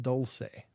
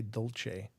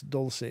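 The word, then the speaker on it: Dulce: pronounced or spelled D L CE and it's pronounced Dolce um a lot of people say Dolce but it's it's Dolce base and uh I thought well I just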